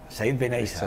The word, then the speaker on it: Said Benaissa: Siempre tengo problemas a la hora de pronunciar. Estos se ríen, pero es que es verdad. Bueno, Said Benaysa. Said Benaysa.